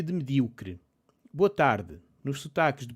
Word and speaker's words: medíocre: Pronúncia de medíocre. Boa tarde. Nos sotaques de português europeu, como dizemos medíocre? Spoiler. É como eu estou a dizer. Sempre disse mal mediocre, mas agora estou na dúvida se é medíocre ou mediocre.